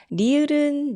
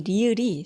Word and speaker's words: 리을: 니은 발음할 때처럼 윗니 뒤쪽에 혀끝이 닿아요. 그렇지만 리을은 좀 더 혀끝을 말아줘야 되죠. 제가 항상 설명을 할 때 리을은 R과 L의 중간입니다 라고 이야기를 하거든요.